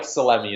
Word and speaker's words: Salemi: Salemi is the way the way it's pronounced.